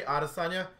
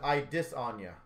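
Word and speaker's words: Israel Adesanya: i recently learned because i always say arasana the way you actually properly say his name is i dis anya shocker for me for those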